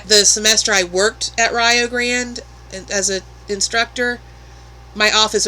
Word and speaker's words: Rio Grande: And as I mentioned in a previous video, in Ohio, it's Rio Grande. Rio rhymes with Ohio. That's how you remember it. Rio Grande, not Rio Grande, like a lot of people think when they see it.